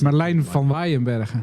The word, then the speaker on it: Merlijn van Waeyenberghe: It's Merlijn van Waeyenberghe. Yeah, you can pronounce it.